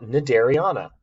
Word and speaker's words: Cnidarian: kingdom, it's phylum, and it's pronounced Cnidarian. It's not Cnidarian, the C is silent.